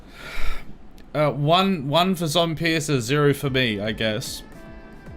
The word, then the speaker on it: Zompiercer: Hello and welcome to Zom Pearcer.